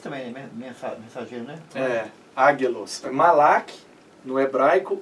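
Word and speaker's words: מלאך: É Malak, mas a pronúncia é gutural, né? Malach.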